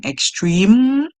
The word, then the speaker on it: extreme: Remember, for spelling purposes, that you have to remember that E is at the end of the word, even if you hear as the last song, extreme, the E is there, the E is silent.